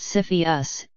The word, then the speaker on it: CFIUS: in the United States Orpheus pronounced Cepheus investigates mergers that could